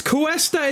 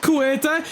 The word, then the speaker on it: Kesta: It's Kesta. It's not Kueta.